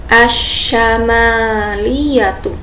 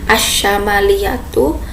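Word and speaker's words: الشمالية: Adik-adik yang ada di rumah perhatikan bagaimana cara pengucapannya, asyamaliyatu. Nah, jadi di sini mimnya itu panjang ya, bukan asyamaliyatu, tapi yang benar asyamaliyatu. Jadi mimnya dipanjangkan.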